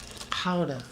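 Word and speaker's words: Gouda: oh yeah it's the guda okay but uh okay so a little bit of guda yeah Howa as they say is that how they say it they do how how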